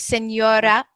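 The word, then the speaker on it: señora: pronouncing it and yay it's pronounced kind of like yeah like Senora Senora Senora um I was trying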